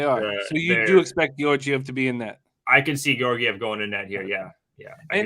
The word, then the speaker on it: Georgiev: I want to say it's Georgiev now, almost. Georgiev? No, I know it's a hard G to get it popped off. It's Georg whatever. Georgiev.